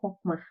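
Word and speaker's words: חכמה: Tulisannya cokmah, tapi bacanya hokmah.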